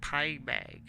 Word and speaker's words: Pygame: I know there's a G, but I pronounce it like pie bag. Like I say the G.